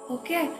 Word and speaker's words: ಓಂ: ಇದರಲ್ಲಿ ಮೂರು ಅಕ್ಷರಗಳ ಉಚ್ಚಾರ ಇರುತ್ತೆ ಅ ಊ ನು ಓಕೆ ಇದನ್ನ ಉಚ್ಚಾರ ಮಾಡೋಣ ಹೇಳ್ಕೊಳ್ಳಿ ಆ ಇನ್ನೊಂದು ಬಾರಿ ರಿ ಹೇಳಿ